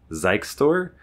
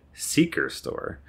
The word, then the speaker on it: XikeStor: a network switch from a company which I went to pronounce as Ze store but I decided to ask them how do you pronounce your company name and I thought maybe it could be like Zeke store or something like that but they said Seeker store I didn't expect that because there's no R